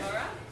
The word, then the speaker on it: Mubarak: Do you pronounce the K? Yeah, Yes, pronounce the K. Mubarak.